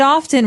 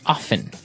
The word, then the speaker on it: often: Now, with pronunciation, some people like to pronounce often, right? They kind of leave out the strong T sound.